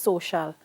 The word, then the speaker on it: social: Why it's pronounced social and you don't have any SH in there?